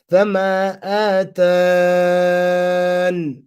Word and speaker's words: فَمَا آتَانِ: The extra ya can be dropped or pronounced during waqf. So حذف ya or إثباتها. You could do both. You could drop it. So if you drop it, فَمَا آتَانِ فَمَا آتَانِ, and you're